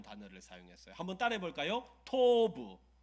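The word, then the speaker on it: טוב: 토브. 발음이 너무 좋으세요.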